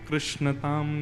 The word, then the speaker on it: कृष्ण: बंधुओं कई लोग इस नाम को अशुद्ध बोलते हैं, कई लोग कृष्ण बोलते हैं, कई लोग कृष्ण बोलते हैं, कोई कृष्णा बोलता है। भगवान का नाम शुद्ध उच्चारण करो। नाम क्या है? कृष्ण, भगवान, जय श्री कृष्ण।